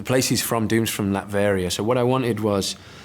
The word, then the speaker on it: Latveria: Latveria, yeah.